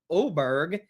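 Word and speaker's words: Åberg: Now, Ludwig Oberg, he has an A to start his name, but it's got an over ring over the A. So then it's pronounced like an O.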